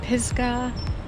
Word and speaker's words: Pisgah: like enclosed within an inclined Raceway I meant Pisgah that's how you say it brewing company I